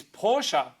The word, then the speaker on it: Porsche: finishing with some conspiracies Porsche that's right that's how you say it easy answers to complex